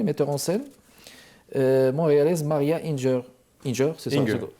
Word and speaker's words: Inger: en scène montréalaise Maria Inger. C'est ça? Inger, pardon. Ouais. Maria Inger. C'est prononcé en anglais, excellent.